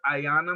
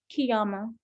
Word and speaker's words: Qiyamah: It's pronounced Ayana, correct? Qiyamah. Qiyamah.